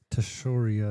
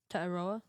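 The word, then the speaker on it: Tetairoa: Teshoria, I think you pronounce that. No, it's not how you pronounce it, but What? it's not how you pronounce it. How do you pronounce it? Tetaroa.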